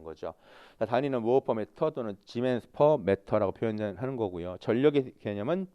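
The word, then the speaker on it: Siemens: 때는 뭐라고 읽거고요 s는 지멘스라고 있습니다 지멘스 근데 영어 지금 영어로 쓰다 보니까 scm라고 썼잖아요 그죠 근데 저거 읽을 때는 짐했습니다 왜냐하면 영어 발음이 아니라 독일어 발음입니다 그래서 지멘스라고 쓰셔야 되는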